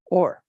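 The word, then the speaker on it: אור: word light okay now this is Olive VAV pronounced or Strong's h216 or or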